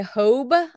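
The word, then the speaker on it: Hobé: the next item is a Hobe I think is how you pronounce it h-o-b-e this is a vintage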